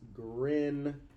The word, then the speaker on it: Grignard: It is spelled Grignard, but how I have always heard it pronounced is Grignard.